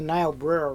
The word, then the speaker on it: Niobrara: This is the Niobrara River, which starts in Wyoming and then flows into the Missouri, just a couple miles north of here.